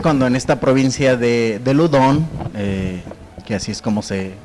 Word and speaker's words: Loudun: Pero esto, digamos, inicia en 1617, que es cuando en esta provincia de Ludón, que así es como se pronuncia.